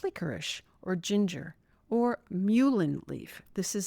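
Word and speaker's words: mullein: Sips of warm herbal tea throughout the day like licorice or ginger or muin leaf. This is spelled m u l l e i n.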